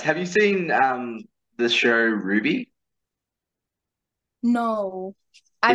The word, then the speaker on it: RWBY: Have you seen the show Ruby?